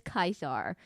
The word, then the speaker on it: Caesar: So uper Ulius um and then the C's are C's are always pronounced with a hard C. So it's it's Julius, it's not Julius Caesar, it's Julius Kaisar.